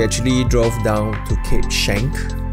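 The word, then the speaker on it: Schanck: other days we actually drove down to cape shank it's pronounced shank but as you can see it looks like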